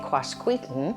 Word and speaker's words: Quasqueton: It is often misspelled, and a lot of people say Quasqueton. If you pronounce it that way, I'm not going to correct you in front of people.